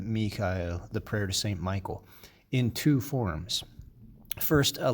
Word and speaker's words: Michaël: If you look at Michael, many people want to say Michael because we say Michael in English, and because typically the A-E go together in one syllable in Latin. But here you can see the two dots over the E. That's to help show you that these are two separate syllables because it comes from the Hebrew Michael.